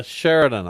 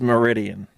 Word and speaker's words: Meridian: name right down the road oh yeah uh Sheridan Idaho it's Meridian uh what never would never heard a Meridian em H who has what direction no clue